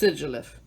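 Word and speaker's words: Sigilyph: glyph whatever you pronounce it's sigilif because it's a sigil and a glyph sagittal lift but it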